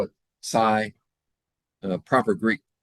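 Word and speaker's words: psi: letter they use that's called they call it sigh. Proper Greek pronunciation is C. But if you're in if you're in a sorority or a fraternity, you're going to call it sigh.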